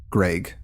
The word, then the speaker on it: Greig: His name is spelled Greig, Greg. So that might trip things up.